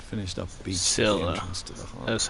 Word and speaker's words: Scylla: It finished up beach at the Scylla. entrance to the harbor. That's how you pronounce it.